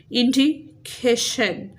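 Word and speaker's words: indication: हमने इसको ऐसे प्रोनाउंस करना है कि इसकी जो स्ट्रेस है वो सही वाले सिलेबल पे आए। जैसे इंडिकेशन, सी ए पे क्या है?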